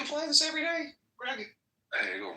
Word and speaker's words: Hegel: Hegel rhymes with bagel.